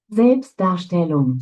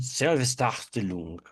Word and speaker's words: Selbstdarstellung: Selbstdarstellung.